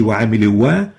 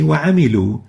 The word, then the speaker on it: وَعَمِلُوا: We don't say وَعَمِلُوا wa, we say وَعَمِلُوا, as if there is no alif.